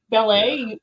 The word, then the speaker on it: ballet: word that they have ballet there's a t on the end they don't pronounce that yeah yeah silent obviously